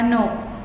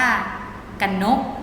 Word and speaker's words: กนก: ว่า อะ นุ่น คะ คุณ กนก อ่าน ว่า กนก ไม่ อ่าน ว่า กัน นก นะ คะ จมูก อ่าน